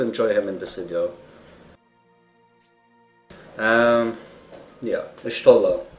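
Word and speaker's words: Y'shtola: Yeah, Ishtola. A lot of people mispronounce it, saying Ishotla, like they're replacing the O&T or something, you know.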